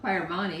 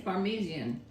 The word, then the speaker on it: Parmesan: it don't be laughing it's not parmani it's parmesian parmesian cheese I don't sound right